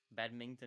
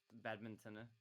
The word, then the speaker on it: badminton: Badmington, he says. I I think I mispronounced badminton. I I keep trying to say badmington.